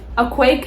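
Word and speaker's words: Akwaeke: to say somebody's name her name is pronounced as a quake a m z mse a quake and messi oh my god so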